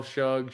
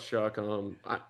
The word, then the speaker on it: Shuck: What's the worst pronunciation of Shuck you've heard? Shug, Shu, Shuff. I mean, it should be all those things, but Shuck.